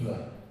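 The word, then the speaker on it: Fleadh: Outside the castle walls in the Bogside, the Catholics have something called the Vle, which is spelled F-L-E-A-D-H, because Irish spelling was invented to confuse the English.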